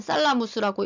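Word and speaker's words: thalamus: 살라무스라고 읽고 시상하부는 하이포살라무스 이렇게 읽습니다.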